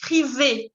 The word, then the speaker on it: frisé: Esa palabra se dice frisé, porque tiene la tilde, entonces tienen que pronunciarla.